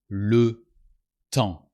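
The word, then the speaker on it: le temps: French the time is Lu Tong you don't pronounce the p and the S because they are the last consonants of the world and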